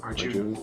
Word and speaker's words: Arjun: Did I say it right? Arjun? Arjun. Yeah, that sounds great.